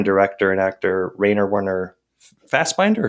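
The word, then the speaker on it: Fassbinder: and actor rer Warner fast binder or fast Bender how do you say it I go fast binder I say fast binder too yeah it's like a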